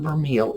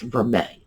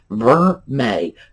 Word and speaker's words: vermeil: to notice vermeil der it's not vermeel it's vermae so i'm very easy to pronounce ver may just like the month of may that's all there is